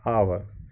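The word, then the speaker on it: hour: NR, so although H इज़ a consonant, यहाँ पर जो H है ये हमारा कॉन्सोनेंट है, इट इज़ साइलेंट, लेकिन ये यहाँ पर साइलेंट है। एंड the word begins with the vowel sound of आ, और इसीलिए जो वर्ड है वो हमारा स्टार्ट हो रहा है आवर, सो ए साउंड से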